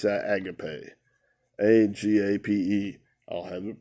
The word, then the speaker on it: agape: It's from the Strong's number 26, and it's agape. Agape. I'll have it pronounced for you.